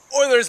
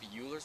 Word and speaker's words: Euler: Oilers's method. I think it's pronounced uler's method.